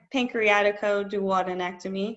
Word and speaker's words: pancreaticoduodenectomy: it a whipple procedure so one last time pancreaticoduodenectomy if you want to pronounce it correctly but you can just call